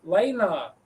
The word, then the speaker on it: Lena: How do you say her name? Is it Lena or Lena? Oh, Lena. She's actually Lena.